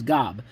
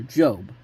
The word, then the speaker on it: Gob: his initials job is Gob which is pronounced in the series like the big biblical figure Job.